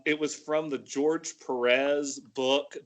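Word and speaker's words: Pérez: was from the George Perez book the accent on the E Accent on the second e book and it's printed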